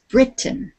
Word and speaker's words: Britain: that country we put the emphasis the accent on the beginning of the word it's Britain not Britain Britain Britain yes and